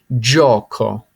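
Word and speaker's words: gioco: up this is Pac-Man easy way to say this Joko Joko simply means game okay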